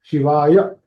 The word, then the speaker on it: शिवाय: If you say Shivaya, it is a half ya. Shivaya. Now it is a full ya.